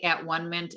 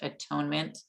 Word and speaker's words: atonement: forgiveness and i know i say at one mint and i do realize it is pronounced atonement uh my husband went